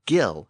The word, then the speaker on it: gill: Another Norse word with a hard G is the word gill, as in gills of a fish.